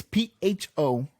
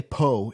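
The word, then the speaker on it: phở: It's PHO, but it's pronounced pho. Oh, pho. People say po. It's not po.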